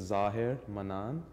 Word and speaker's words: Zahir Manan: And so my name is Zahir Manan. Those are two actually attributes of God. The correct pronunciation is Zahir Manan.